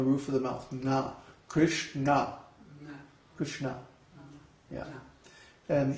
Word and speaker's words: Kṛṣṇa: Kṛṣṇa. Kṛṣṇa. Yeah. And it's hard for us Westerners to hear the difference, but the people from India can hear the difference between na, na. Those different pronunciations.